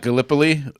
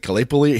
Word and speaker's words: Gallipoli: And apparently we still pronounce Gallipoli wrong. I got Casey corrected me on that. Oh, it's not Gallipoli?